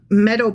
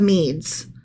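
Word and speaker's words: Medes: for 66 years the meadow Persian Empire and by Meadow I'm pronouncing that incorrectly it's the mes it's the Persians and the mes combined okay okay so the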